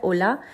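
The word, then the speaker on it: hola: आपको बता दिया था क्योंकि हम जब बोलते हैं ओला तो हम होला नहीं बोलते हम बोलते हैं ओला है ना एच साइलेंट होता है अब हम जी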